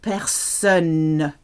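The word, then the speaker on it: personne: person so best son has a clear n at the end la person noisy noisy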